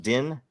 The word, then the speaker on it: Din: Is it pronounced Din? You can say it Din. Yes. Din.